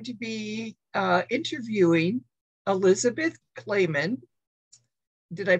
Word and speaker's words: Clamon: different we just say clam on well that's a good way good way to remember if you can remember that clap on clap off commercials you can remember clam on that's a good analogy